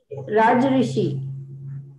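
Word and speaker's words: rajarshi: do we pronounce that rajashi rajashi i i'm not sure any god it's a combination of two words raj and rishi so raj rishi king although he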